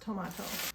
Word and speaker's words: Tomato: And it is pronounced tomato.